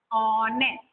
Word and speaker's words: honest: I have written honest. Many of the children, they pronounce honest. It is wrong. H is silent here.